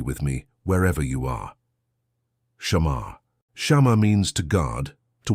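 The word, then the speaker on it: שמר: Pronounce it softly with me wherever you are. Shamar.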